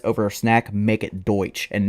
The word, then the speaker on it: Deutsch: And then lastly, want to give a huge shout out to uh Deutsch. And yes, I'm saying it right. Okay, let's just address it. Yes, it's called Deutsch.